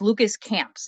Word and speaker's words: Lucas Camps: am very blessed to be joined by it's Lucas camps is that the right pronunciation yes okay good Lucas is from the